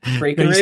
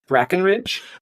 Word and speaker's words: Breckenridge: Breckenridge? No, you said Brackenridge. You got to say Brackenridge. Brackenridge? Brackenridge. Yeah, it's an E.